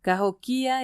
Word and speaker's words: Cahokia: Incluso recordé que al pronunciar Cahokia tenía que poner énfasis en la tercera sílaba en lugar de en la segunda, que es como lo pronuncian los blancos.